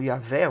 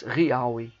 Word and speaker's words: Yahweh: texto específico bíblico, né, que seria a pronúncia não Yahvé ou Jeová, mas Yahweh.